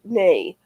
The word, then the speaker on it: Nai: It's spelled NAI, but she said water nay.